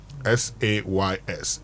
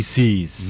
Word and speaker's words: says: He says, not he sees. No. You know the pronunciation is when you're doing uh you know first person singular is see. But the moment you get into third person singular, it becomes says.